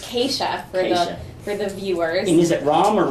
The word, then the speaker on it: Kesha: your name right I've often wondered is it k sharkeisha Oh Scott you can pronounce it any way you want it's k chef very good for the viewer name is it